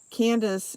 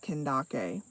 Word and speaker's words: Kandake: Candace is how you would pronounce my name in English, but it is an Ethiopian form of, how am I saying this? Okay, so Candace in the Ethiopian language is pronounced Kendake.